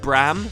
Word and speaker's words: Braham: But a lot of people insist that his name is pronounced Bram, like you ignore the AH in the middle completely.